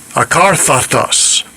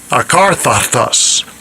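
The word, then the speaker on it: ἀκάθαρτος: Akarthatos. Akarthatos. Akarthatos. That's the Greek pronunciation.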